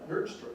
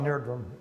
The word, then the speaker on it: Nerdrum: Nerdstrom, is that how you pronounce it? Odd Nerdrum.